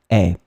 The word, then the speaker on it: est: one, the verb être, can be opened a bit more like est.